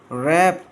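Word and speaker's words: wrap: वन डे आई वॉज at home with my मॉम, शी वॉज नाइटिंग, के silent है underline, and आई हैड टू रैप, W silent है, एंड a gift for my dad as I was रैपिंग, W silent है।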